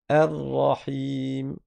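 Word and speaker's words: الرحيم: Ar-Rahim.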